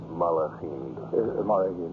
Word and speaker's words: Malachim: Gedushim, the holy ones, and how do you pronounce it? Malachim.